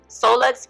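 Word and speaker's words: Seaux Luxe: So, it's a Louisiana thing, you know, French Cajun type thing.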